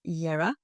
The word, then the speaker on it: Jera: So yes, first like I showed you, first you paint Jera or Yera. You pronounce pronounce is Yera.